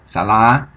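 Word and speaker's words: សាលា: That means that the L, the second series consonant, will be pronounced as a first series consonant. Alright, so the vowel will be pronounced as a first series vowel, or as it would be with a first series consonant. Alright? So thus you have salah.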